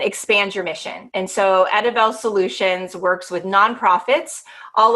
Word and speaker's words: Edivel: And again, yes, it's Edivel, and it looks a little different and it's unique and it's kind of hard to pronounce.